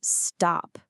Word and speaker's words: stop: But now look at the word stop. Even though the syllable is stressed, that ta sound comes after an S.